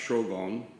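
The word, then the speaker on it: 荘厳: and quotidian zhuang yen which the japanese pronounced shogon is a term most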